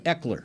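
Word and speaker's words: Ekeler: Eckler.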